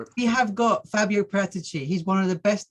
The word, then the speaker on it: Paratici: Pronounce it from the Tottenham, Italian probably. way. Paratici, okay?